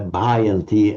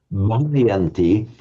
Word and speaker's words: bhayanti: bhayanti, but if anything, putting a slight overemphasis on the h, because if you can't pronounce it like a Sri Lankan or an Indian, at least slightly overemphasize it just to make sure that you aren't saying the wrong sound.